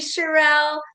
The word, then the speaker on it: Cherelle: Hello sweetie Charerelle. Am I pronouncing your name correct?